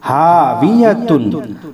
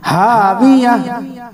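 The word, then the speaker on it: هاوية: उल्टा पेश हू, फ़उम्मुहु, हा अलिफ ज़बर हा, वा ज़ेर वी, हावी, या ज़बर या, ता दो पेश तुन, हावियतुन, फ़उम्मुहु हावियह, फ़उम्मुहु हावियह, हावियह।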